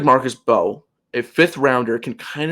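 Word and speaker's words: Mbow: Marcus Bowe, the M is silent.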